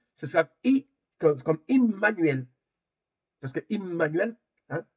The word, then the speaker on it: Immanuel: Si si la voyelle c'est I, ce sera I comme Immanuel parce que Immanuel hein parce qu'on dit Emmanuel mais c'est immanuel.